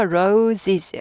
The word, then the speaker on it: roses: 복수 was 아니고가 되는 거고요로는 장미 S 붙여서 Roses Roses 장미가 되고요 sunf음 해바 아이죠 해바라기 태양